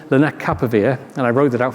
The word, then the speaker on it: lenacapavir: It's called lenacapavir, and I wrote it out phonetically for myself here because I've really struggled to say it.